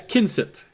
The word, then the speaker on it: Kinsit: name kinsit did you say his name yeah kinsett k-i-n-s-i-t gnomes are known to like pranks so